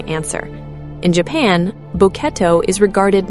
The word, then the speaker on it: Boketto: Boketto, pronounced "bo-ke-tto", written with characters suggesting an unfocused gaze.